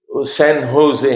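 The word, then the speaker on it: San Jose: شہزاد صاحب جیسے سین ہوزے ہیں نا, تو لکھتے ہیں سین جوزے, لیکن پڑھتے ہیں سین ہوزے.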